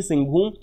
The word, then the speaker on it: सिंहभूम: उसके बाद बाइफरकेट करिए तीन और, हजारीबाग, उदवा लेक और सिंहभूम, सिंहभूम, सिंहभूम, exact pronunciation is दी सिंहभूम, Hazaribagh, उदवा lake और सिंहभूम जो एलिफेंट रिजर्व है, इट is located in the Jharkhand.